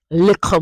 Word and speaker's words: little: You notice that the 2 T's are a K, and that is because this is how we pronounce it in a Jamaican patois.